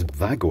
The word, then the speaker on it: Wago: same company those of you are familiar with Vago connectors wgo connectors you might want to call them the correct pronunciation pronunciation is Vago apparently Vagner or but you've probably come across